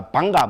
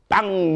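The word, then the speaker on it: bhaṅga: 본래 A 뒤에 A는 지금 힌디 마라티가 인도 말에서 이건 발음 안 합니다. A는 발음 안 합니다. 그죠? 산스크리트 빨리에서만 고전 언어에서만 이게 지금 그죠? 발음하는 거로 되어 있습니다. 됐죠? 힌디 마라티어는 이게 발음을 안 합니다.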